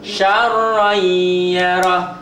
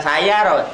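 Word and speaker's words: شَرًّا يَرَهُ: May ya'mal yauma idzi yasdur syarran yarah. Sya bukan saya roh. Syarran yarah.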